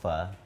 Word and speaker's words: pho: It's called pho. It's spelled P-H-O. And Pho. No, pho. Pho, not faux.